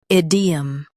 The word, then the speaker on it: idiom: Stress ID and keep 'em light. Id. E. Idiom.